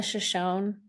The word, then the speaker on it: Shoshone: And as you mind pronouncing them for me so I get the pronunciation correct? So, it's the Arapaho and the Shoshone Native peoples.